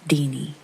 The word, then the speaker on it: Tiny: It's just what we call her, and it's pronounced Deanie.